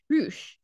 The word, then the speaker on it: Rush: that last guy's name roosh okay even though it's spelt rush but it's rouge apparently um dragon lee and rush